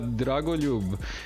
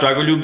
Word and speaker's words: Dragoljub: We discussed this offline because Westerners can't say "lj." Yeah, it's pretty hard for them to. It's pretty hard for them to pronounce that. It's it's anything but Dragoljub. It's usually Dragoljub or something like that, which is hilarious for me.